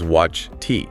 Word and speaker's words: watched: So if a verb ends in one of those voiceless sounds, the e d ending is pronounced as a t sound, just a t.